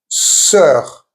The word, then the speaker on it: sœur: Now this weird combination of an O with an E attached to it and a U, pronounced E. For example, cœur, meaning heart, sœur, meaning sister, and the letter OU, which is always OU.